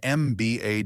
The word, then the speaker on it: MBA: a is used an MBA degree MBA is pronounced MB a starting with the vowel sound e so an is used